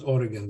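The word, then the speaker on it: Origen: hell altogether for example oregon um or origin in greek his name is pronounced as oregon the third third century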